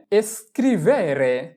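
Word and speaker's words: scrivere: এরপরে এস্কুয়ালা এস্কুয়ালা এস্কুয়ালা এস এর উচ্চারণ এস চি উ কু ও কুও এল আ লা এস্কুওলা এস্কুওলা মানে স্কুল। এরপরে এস্ক্রিভেরে এস্ক্রিভেরে এস্ক্রিবেরে মানে লেখা।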